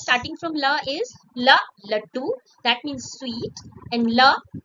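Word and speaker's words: लड्डू: They They are pronounced somewhat very similar, but the difference lies that here is the consonant da, and here we are using consonant ta.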